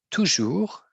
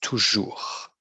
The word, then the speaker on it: toujours: c'est ça ici ok toujours means always always toujours on ne prononce pas le S toujours souvent souvent often